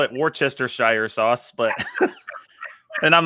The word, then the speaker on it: Worcestershire: guy trying to say have you come across worcestershire sauce yet are you asking me are you talking about video yeah yeah you yeah oh yeah no we have okay well we call it worchestershire sauce but and i'm like man this this